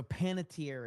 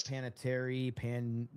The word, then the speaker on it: Panettiere: All right, so Panettiere is how you say it. I never knew how to say her name. I always said like Panettiere, so anyway, Panettiere.